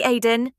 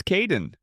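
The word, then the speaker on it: Kaeden: Hi Aiden. It's Kaden.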